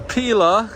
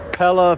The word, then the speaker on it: Pella: All right, we just made it over here to Pila. What up, Pella? Pella Pila. I'll always say it wrong. Pella Windows. pillow windows. I've been saying pillow windows my whole life.